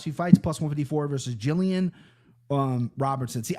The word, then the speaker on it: Gillian: fights, plus 154 versus Jillian Robertson. See, I knew a girl with her name spelled like this, and it was Gillian. She goes by Jillian, which is fine.